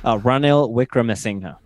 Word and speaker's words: Ranil Wickremesinghe: How do you actually pronounce that? Ranil Wickremesinghe.